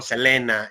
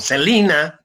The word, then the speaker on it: Selena: que produce la frontera el caso de selena que decimos en méxico selena y en eeuu se le dice se le conoce como celina pero se escribe exactamente igual es el caso icono